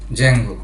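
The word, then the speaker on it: Django: এর মধ্যে খুবই জনপ্রিয় একটি ফ্রেমওয়ার্ক হচ্ছে জ্যাঙ্গো। জ্যাঙ্গোর বানানটা হচ্ছেডি যে এম জি ও তো এই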